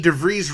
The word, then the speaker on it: DeVries: and special guest vicky devries rhymes with cheese joined us for one